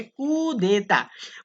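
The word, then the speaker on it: coup d'état: তারপর হচ্ছে কুদেতা, এটা পরীক্ষাতে প্রায় আসে, এটা উচ্চারণটা কি মনে রাখতে হবে, কুদেতা।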